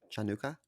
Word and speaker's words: Hanukkah: of kanuka and uh I think it's pronounced chanuka chanuka that's right sorry I apologize you are correct it is chanuka wow that's what I